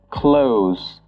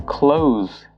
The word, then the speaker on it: close: this word, it becomes close. So the O is longer, and the S is now pronounced as a Z. So for example, I asked my brother to close the window.